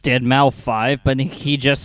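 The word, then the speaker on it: deadmau5: is your good friend Joel professionally known as dead mouth 5 yes that is the correct way to pronounce it tell your friends we're here to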